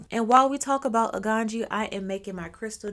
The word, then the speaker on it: Aganju: a n j u some people pronounce it but me Yaya being a black Gucci American I'm going to say a ganji okay so if you